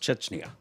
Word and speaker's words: Chechnya: And it's pronounced Chechnya.